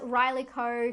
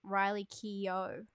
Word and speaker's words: Riley Keough: hard to pronounce as riley co who's from i have to say it isn't i just realized recently it isn't riley co it's riley keough i don't know the